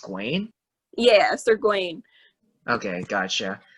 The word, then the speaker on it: Gawain: Gawain actually. Oh, it's pronounced Gawain.